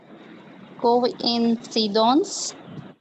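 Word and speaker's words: coïncidence: coincidence. Coincidence. So we did not say qua. We didn't say coincidence, coincidence. So it even sounds like English.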